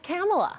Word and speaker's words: Kamala: spoke with wanda right she knows her as kamela okay back in the